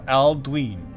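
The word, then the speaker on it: Aldwyn: Aldwin is pronounced Aldwin because of the long vowel sound on the Y.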